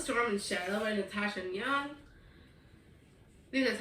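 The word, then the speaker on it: Ngan: was girls of storm and Shadow by Natasha and Young that's how you pronounce that and this is the second and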